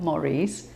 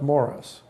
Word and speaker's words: Maurice: So tell us about your film that's going to be showing here at the 60th San Francisco International Film Festival, Maurice. It's pronounced Morris.